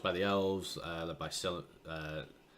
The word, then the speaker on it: Celebrimbor: The rings were forged by the elves, led by Celebrimbor. Celebrimbor, is that what you say? If it's CE, it's pronounced K. Celebrimbor.